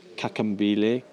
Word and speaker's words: Kakambile: I'm not going to pronounce this right, but the kakambile, you can help me with that. Should I rescue you? Please rescue me. Kakambile. Oh, it's double click.